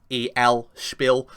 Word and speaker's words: Spiel: just getting out it doesn't google the name it's spelled s-p-i-e-l spill and that's that's the different the dictionary says